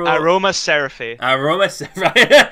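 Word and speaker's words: Aromaseraphy: Well, how do you pronounce that? Aroma Seraphy.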